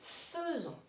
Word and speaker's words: faisons: Le AI, le est, se prononce E. Nous faisons.